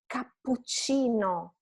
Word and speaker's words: cappuccino: Cappuccino, two double consonants, so PC.